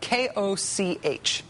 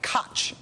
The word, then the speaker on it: Koch: It's K-O-C-H. Looks like Koch Industries, as you can see there, but it's actually pronounced Koch.